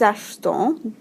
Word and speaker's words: achetons: And then when we get outside the boot, that E kind of is dropped almost in the pronunciation. So you say nous achetons, et n'oubliez pas la liaison, vous achetez. So achetons, acheter.